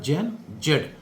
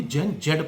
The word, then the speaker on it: Gen Z: और ये लिखा जाता है जैन जेड। लेकिन हम इसे कभी भी जैन जेड प्रोनाउंस नहीं करते।